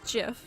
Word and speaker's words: GIF: like the moving images if the author says it's jif it's just well listen yeah like the peanut butter but then okay no